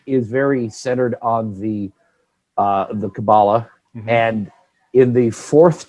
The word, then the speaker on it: Kabbalah: In Hebrew, typically the stress is put on the last syllable. So Kabbalah would be a more Hebrew style pronunciation. Okay. But some people say Kabbalah.